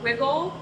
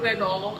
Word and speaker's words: Wigle: Pittsburgh, so we are Wiggle. I think we get that question a lot, actually, if it's Wigle or Wigle. Yeah, it's just the Pittsburgh pronunciation instead of the German pronunciation of Wigle.